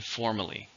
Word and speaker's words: formerly: How many syllables are in formerly? 3, with a stress on the first.